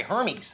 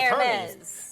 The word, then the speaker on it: Hermès: I just want to say Hermes. Hermes. I want to give it Hermes. Yeah, Hermes.